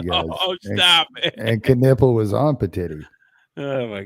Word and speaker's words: Knueppel: And he said, "Con Knipple," just like the body part.